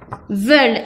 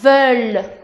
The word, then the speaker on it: veulent: Aquí está veulent y se pronuncia veulent, veulent.